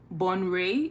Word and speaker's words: Bonwire: Someone corrected me on how to correctly pronounce this town, but it's spelled Bonwire, and it's Bonray. Bonray is the correct pronunciation, I believe.